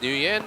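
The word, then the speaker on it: Nguyen: call wng if it's if it's American pronunciation it's new Yen but Vietnam Vietnamese pronunciation it's wng spelled NG Yen a very common name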